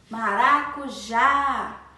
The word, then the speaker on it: maracujá: pêssego em calda maracujá maracujá a sílaba tônica é o já que atenção aberto maracujá mas abrimos a boca não é para falar